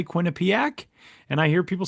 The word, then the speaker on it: Quinnipiac: Then from there, he grew up in Massachusetts, and then he went to Sam, you can help me pronounce this. Quinnipiac.